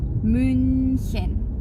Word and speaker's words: München: Cara bacanya coba bentuk mulut kita jadi huruf, mau ngomong huruf U seperti itu. Tapi yang teman-teman vokalin itu hurufnya I, jadinya U. Contohnya itu München.